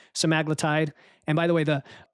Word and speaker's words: semaglutide: There's a lot of confusion over naming, but I know there's the compound names like semaglutide.